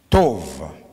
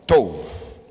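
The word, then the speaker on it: טוב: Ça s'écrit T O WB T O W B mais ce qui est mis entre parenthèses et ce qui nous aide à prononcer ou ça peut écrire t o b h tove tove est ici c'est un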